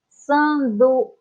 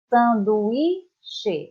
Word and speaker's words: sanduíche: Sanduíche. Temos um acento aqui, ó. Temos que pronunciar. Sanduíche é a sílaba mais forte.